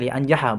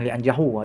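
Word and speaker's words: لِيَنْجَحَ: Jadi bacanya lianjaha bukan lianjahu atau lianjahi apalagi ya.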